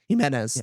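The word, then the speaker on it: Jimenez: Himenez, thank you.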